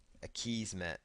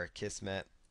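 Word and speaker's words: Akismet: another plug-in here called a keys met or a keys met or a kiss met depending on how you want to pronounce it so just choose activate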